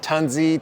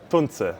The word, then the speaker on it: Tunze: Yeah, everyone always says is it tanzi tanza? What's the correct pronunciation? I just learned again from Roger that it's mille porche tuner tanza tons.